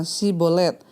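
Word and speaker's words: Shibboleth: Sungai itu ya memakai tes pengucapan kata si Bolet adalah kata yang berarti Sungai orang ifraim mengucapkan si sebagai es sehingga tentara-tentara yfta bisa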